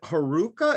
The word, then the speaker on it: Haruka: monkey okay you play is it haruka is that am i pronouncing that right yeah yeah yeah yeah so uh it's